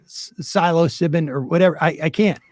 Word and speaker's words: psilocybin: Lefty Lucy um uh corrected my pronunciation I'm going to say it right right now Silo sibin I don't even think I did right there here's the point I'm not going to say psilocybin the chances of me